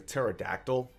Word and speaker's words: pterodactyl: apparently it was um it's spelled with a p and the P silent so that was interesting